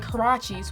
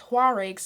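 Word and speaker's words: huaraches: popularity of other shoes like Karachi's which I for a long time pronounced Horrocks no shame and the dreaded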